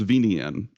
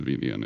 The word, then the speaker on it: VNyan: probably make happen in VNN. It's great. He's asking, how do you spell it? I forget. So it's VNYAN, VNyan, kind of like the Nyan cat, the meme Nyan cat.